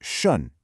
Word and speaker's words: 顺: So this first character is pronounced shun.